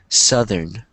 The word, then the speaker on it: southern: Southern. Southern. Southern. So it's two syllables.